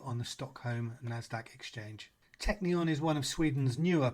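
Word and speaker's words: Teqnion: Sweden to look at a programmatic acquirer called Techneon. That's spelled TE Q N I O N and its ticker is TE Q on the Stockholm NASDAQ exchange. Technon is one of Sweden's newer programmatic acquirers founded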